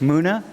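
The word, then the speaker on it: Mouna: Muna? Yeah. How do you spell it?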